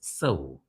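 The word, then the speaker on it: sow: pig is a s but if you use this as a verb which means to plant then it is seow for instance you seow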